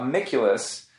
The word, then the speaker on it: Amiculus: But we're also here to talk to him about Amiculus, which was, I said it right.